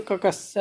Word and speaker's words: कक्षा: कक्षा शब्द का शुद्ध उच्चारण क्या होता है? तो कक्षा, ये सी ऑप्शन बिल्कुल सही है।